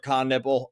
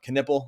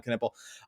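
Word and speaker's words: Knueppel: then you have Trey Johnson like you have Khan nipple uh Canipple I said nipple but I he he was the one that said pronounced that well I'll say I'll say my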